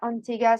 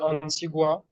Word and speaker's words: Antigua: prononciation de Antigua. Ok, Juste Antigua, bien prononcer le U et pas Antigua.